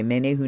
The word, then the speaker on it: Menehune: Menehune aloha healing okay I was gonna say many who name was my instinct to say it in a Hawaiian pronunciation and yes aloha healing